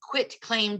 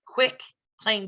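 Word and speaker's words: quitclaim: A lot of us, I think, pronounce it quick claim deed because it is a quick, very quick way to add someone to title, or a quick way to get them off.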